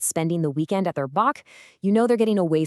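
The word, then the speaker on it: bach: And let's do one more iconic Kiwi word boach. It's pronounced just like batch.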